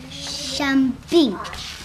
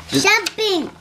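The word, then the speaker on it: 生病: Shambing. Shambing? Shambing.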